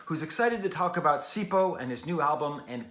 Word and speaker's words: Sipho: music in this case i'm reviewing sipo which is spelled s-i-p-h-o period it's important you have